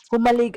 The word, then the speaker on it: Jomalig: So ito yyung peer na sinasabi nila papuntang Humalig Island. Humalig Island is the right pronunciation.